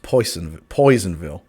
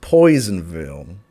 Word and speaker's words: Personville: but locally it's pronounced Poisonville. I am better than last week, thank you. Locally pronounced Poisonville, where people don't pronounce their R's.